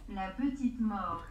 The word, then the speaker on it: La Petite Mort: La petite mort. La Petite Mort, sin la T.